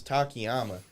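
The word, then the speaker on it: Takayama: We're watching Don Fry versus Takiyama. And I believe I pronounced that right, Takyama.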